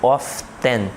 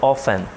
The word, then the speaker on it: often: O advérbio often, repare que eu não pronuncio o T, tá? Eu não digo often, eu digo often.